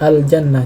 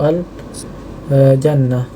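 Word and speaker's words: الجنة: Ada huruf lam, jadi al-jannah, jadi bacanya itu al-jannah, ya, al-jannah.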